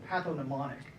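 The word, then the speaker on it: pathognomonic: word in graduate school patho mnemonic it's got a g in the middle it took me a long time to learn how to say it on that G but what that means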